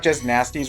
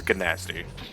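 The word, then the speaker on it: Gnasty: nasty yeah g yeah so then you pronounce it like gnome just nasty but they they pronounce it as G nasty yeah but I assume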